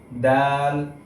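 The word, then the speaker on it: دال: সা এই হরফের উচ্চারণের ক্ষেত্রে বলেছিলাম যে জিহ্বার আগা সামনের দাঁতের আগার সাথে লাগবে, যেমন সা, ঠিক একই স্থান থেকে হবে দাল।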